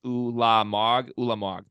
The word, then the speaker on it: Ulamog: One more Cormac comment from Ulamog. I think I got that right now. He said it's pronounced Ulamog.